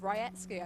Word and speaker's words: Rajecki: we should pronounce this i would always have said and you just you have actually taught her about it haven't you yeah we were having a little discussion last night and uh her friends who were with her also said we've always called you millie with jackie and she said well the proper pronunciation is something along the lines of ryetsky i think oh right okay um